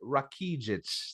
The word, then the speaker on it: Rakidzich: Rakidzich. There you go. I wrote it how I could spell it.